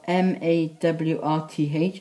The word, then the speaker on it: Mawrth: March is spelled M-A-W-R-T-H, and it says Mawrth.